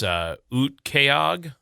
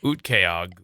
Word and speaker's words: Utqiagvik: Utqiagvik. Oh, there's a Vic at the end. I missed part of it.